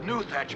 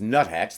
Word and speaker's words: nuthatch: that the elusive and high-flying giant red-eyed hermit newthatch birds are migrating south for the winter. Newthatch? I assume he means nuthatch.